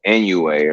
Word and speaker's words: Inoue: Naoa Inoue or some shit like that.